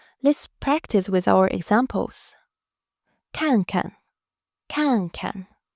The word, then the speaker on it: 看看: The first 看 is fourth tone, so your voice drops sharply. 看. The second 看 becomes neutral tone. Together, 看看. Notice how the second syllable is much lighter and shorter.